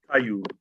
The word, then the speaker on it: Tayub: Tayub. Tayub. Okay. Ta. Tay. Like tie your shoe.